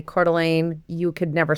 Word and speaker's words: Coeur d'Alene: The Coeur d'Alene. Yes. For anybody that's not familiar, I just have to say Coeur d'Alene, you could never spell it.